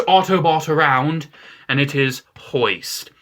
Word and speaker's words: Hoist: Number 8 goes to the most moist Autobot around, and it is Hoist. Hoist is a very moist boy, because his name rhymes with moist, and no one likes the word moist.